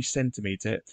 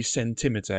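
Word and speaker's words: centimetre: have to put emphasis so it wouldn't be centimeter it would be centimeter it wouldn't be millimeter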